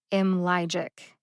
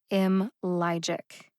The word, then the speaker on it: Imlygic: logic down into syllables imlegic has three syllables m logic m logic can you hear the three syllables the second syllable lie gets the emphasis what does that mean